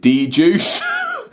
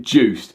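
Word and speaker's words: DJUCED: reviewed a Hercules controller I've been calling it dju so I found out recently that they actually pronounce it Juiced which is Hercules's own DJ software um it's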